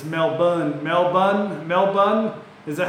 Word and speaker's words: Melbourne: hey from Australia so I was told it's not male born because that's how it's spelled you know like for Angus spelled for rank but it's Melbourne Melbourne Melbourne is that